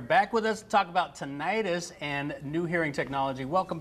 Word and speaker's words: tinnitus: be pronounced either way tinnitus or tinnitus medically today it's preferable to pronounce it tinnitus it's not an actual itis is what it doesn't